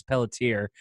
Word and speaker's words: Pelletier: gets tricky for people too sometimes because they're like Mr. Pelletier. I'm like, it's Pelletier. Like, oh, Mr. Pelletier. Okay. And then I've even gotten someone giving me the French accent too, which is Pelletier.